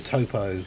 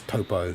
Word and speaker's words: Toppo: I think the dub decision to call Topo Top is just ridiculous. His name is literally spelled Toppo. Like, why would that be pronounced top in English when it's Topo in Japanese?